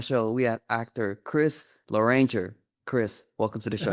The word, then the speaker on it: Loranger: So if orange, it's orange. It's Loranger.